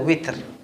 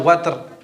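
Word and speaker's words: وتر: Ini kalau dalam qiraah sab'ah, ya, ini membacanya dengan memfathahkan wawunya, seperti yang kita wasyaf'i wal watr. Tapi tidak boleh kita pungkiri, ya, ada juga yang membacanya dengan ya, kasrah wal witr.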